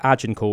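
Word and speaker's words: Agincourt: it was the 1400s if you look at Ajinor which is spelled A G I N and then court but all one word ajinor um and that was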